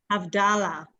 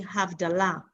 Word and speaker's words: Havdalah: Havdalah, which is wrong. It's actually Havdalah. That's the correct.